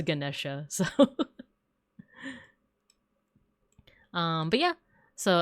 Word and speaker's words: Ganesha: I There's different ways I think. think uh cuz I've heard Ganesha Gan Ganesh Ganesha G like with a JI at the end. So I think it depends on like the specific region or community, but I learned it as Ganesha.